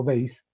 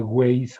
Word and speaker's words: Weiss: este tipo de temas, un señor llamado Eduardo Weiss, se escribe Weiss con W-E-I-S-S.